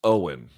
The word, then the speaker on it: Eoin: So my understanding is Eoin is pronounced Owen.